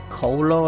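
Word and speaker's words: kolo: the one that's um Colo I believe it's how you say it it's a k-o-l-o it's where they are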